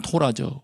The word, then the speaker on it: 토라: 이 원래 단어는 토라죠. 원래 발음으로 하면 토라.